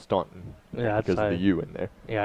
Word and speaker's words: Staunton: so you're saying that people can see how it's spelled in Tennessee and know that it's Stanton whereas people see Stanton Virginia and think it's pronounced Staunton yeah you in there